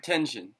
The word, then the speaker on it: Tenshin: How do you pronounce the Tenshin? Tenshin.